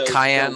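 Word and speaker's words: Kayain: you sir is that that cayenne like cayenne pepper that's how you pronounce it but it's a k-a-y-a-i-n yeah i like you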